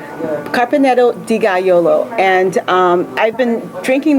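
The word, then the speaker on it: Dogajolo: versatile so it's carpeneto and then the it's pronounced deolo carpaneto deolo and um I've been drinking this wine for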